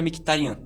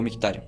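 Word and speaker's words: Mkhitaryan: Fabian Ruiz contra Mctarian ou Mictarian, depende da sua pronúncia.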